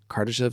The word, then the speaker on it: Kardashev: referring to the Kardashev, I believe is Kardashev scale is how you pronounce his name.